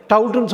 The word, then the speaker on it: taut: அதை டவுட்டுன்னு சொல்லாமல் டாட்டுன்னு சொல்லுவாங்க. எகெயின் TAUTயை டவுட்டுன்னு உச்சரிக்கலாம், TAUTயை டாட்டுன்னு உச்சரிக்கலாம். யூகேல டவுட்டு, யூஎஸில் வந்து டாட்டு. கேர்ஃபுல்லாக இருக்கணும். நீங்கள் டாட்டுன்னு தான் படிக்கணும். நீங்கள் படிக்கலாம், டவுட்டுன்னு படித்தாலும் தப்பு கிடையாது. அப்போ டவுட் என்ன?